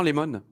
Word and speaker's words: LeMond: sûr qu'en corée ziigmund non lemon c'est comme ça qu'on prononcer mais j'ai compris comment